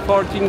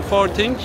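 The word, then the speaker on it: Forthing: anda bulunduğum ST forting forting olarak İngilizce okunuşunu söyledim Evet İngilizce okunuşu forting yine bir Çin Markası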